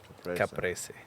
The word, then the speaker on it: caprese: caprese. Caprese. I like that. That's a good He word. says Kind it of the rolls best. off the tongue. You got to get the Italian lilt. The caprese.